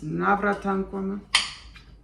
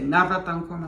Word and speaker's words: Navratan Korma: So I do this pretty well with Spanish, and then that's why I say Navratan Korma like that, like this. Navratan Korma. That's why I say it like this.